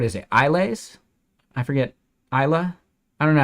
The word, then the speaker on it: Islay: it isas I forget Isa I don't know how to pronounce it we'd be naive and just say islay that's incorrect Isa there you go o